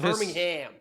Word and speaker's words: Birmingham: Why do I keep pronouncing the H in Birmingham?